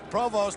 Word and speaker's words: Provost: And for those of you who may be wondering about the pronunciation of Ted Provost's name, it is a French name, initially from Canada. Provost, an American boy who went to Ohio State, prefers to be called that way.